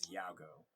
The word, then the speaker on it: Yagoo: A lot of people refer to him as Yago. And you spell that Yagoo.